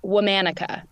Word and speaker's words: Womanica: of the name of the podcast it is pronounced womanica well manika I like that now where'd that